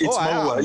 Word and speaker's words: Maua: It's Maua. You know, good. With like African languages, you pronounce every word. It's Maua. You know, we don't have silence and all those other complicated things in other languages.